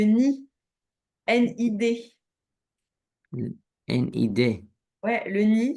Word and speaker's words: nid: J'ai pas dit le Nil, j'ai dit le nid.